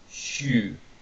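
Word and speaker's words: 週: And then here we have week, pronounced shu, konshu, meaning this week, for example.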